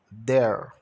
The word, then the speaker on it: there: Aí, there. O T e o H tem o som de D. O E de E, o R de R e o E é mudo.